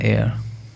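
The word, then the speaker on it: heir: Anant Ambani is एन एयर, because जो एयर word है इसका एच साइलेंट है, तो इसका साउंड कौन सा निकलेगा? वाउल साउंड, ठीक है।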